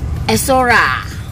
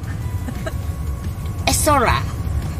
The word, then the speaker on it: Esora: No, Esora, how to pronounce? Esora. Esora.